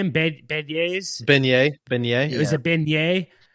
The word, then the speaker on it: beignet: Beignets?